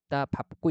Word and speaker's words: 밟고: 좀 예외적인 발음이 있죠 그래서 밥다 여간 밥 같은 경우는 자 앞에서 뭐로 발음해요 밥으로 발음을 하죠 그래서 밝다 밟고가라 밥고 이렇게 되는 거 그다음에 널다 같은